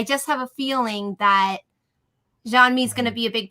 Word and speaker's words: Jean-Mi: I think we're gonna meet Jean-Mi, or is that his name? Am I pronouncing that right? Jean-Mi, yeah, Serac's brother.